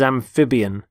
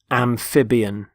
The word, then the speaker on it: amphibian: the first word is amphibian amphibian notice the stress on the middle syllable amphib amphibian there are animals such